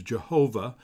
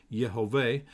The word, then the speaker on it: Jehovah: that starts with the word that we would pronounce as Jehovah yehovah and he'll say I am Jehovah Shalom I